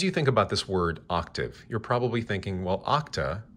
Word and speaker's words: octave: That's O-C-T-A-V-E. Do me a favor. Don't overpronounce this word. It's not octave, but it's octave, just a little more gently, octave.